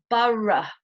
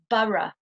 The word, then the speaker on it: borough: Right, now the next pronunciation is the pronunciation of ough as a schwa, the sound in British English. We have the words thorough, borough. I'll repeat, thorough, borough.